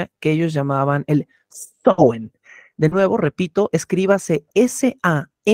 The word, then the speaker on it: Samhain: sabrosón y por oposición, el Samhain o el Samhain, que es la pronunciación correcta, era la noche, era como se